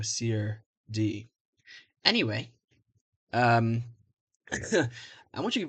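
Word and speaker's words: serde: Typically the correct answer is c or d because it's short for serialization d serialization. So se d.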